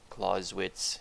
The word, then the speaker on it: Clausewitz: Clausewitz, yes, I believe that's the pronunciation.